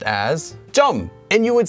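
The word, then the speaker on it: 점: and that is Tom note this is actually pronounced as jum and you would say it at the same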